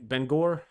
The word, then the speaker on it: Bangor: Boston Portland bang Ben Bangor is how you say it Bangor I don't know